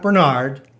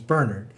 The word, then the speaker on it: Bernard: that her brother bernard not bernard the irish pronunciation is bernard her brother bernard was